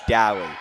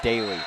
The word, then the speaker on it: Deli: I was told from the team manager that it is Deli, not Daly.